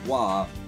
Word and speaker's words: Roy: how to pronounce this I never would have known that the name Roy was pronounced wah not for the member